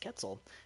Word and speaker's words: Quetzal: So it is actually pronounced Quetzal.